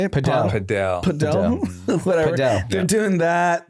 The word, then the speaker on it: padel: No, but I'm saying our age group, like my friends, they're doing like paddle. How do you say it? Padel.